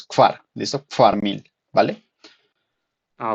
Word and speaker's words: kvar: Una cosita, pronunciaste el 4 como si fuera un 5. 4 es kfar, ¿listo?